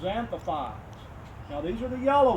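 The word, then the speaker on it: xanthophyll: An X is usually pronounced an X before a vowel anyway is usually pronounced as Z. So it's zanthopi.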